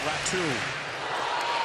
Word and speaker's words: Räty: Spelled Räty, but it is pronounced Räty.